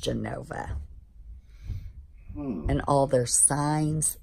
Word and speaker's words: Genova: E and O but in Italian it's Genova and it's pronounced Genova and all their signs